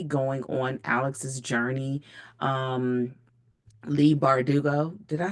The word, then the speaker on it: Leigh Bardugo: Um, Leigh Bardugo.